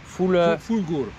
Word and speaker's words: Fulgur: Et tu prononces comment le nom? Fulgur. Fulgur?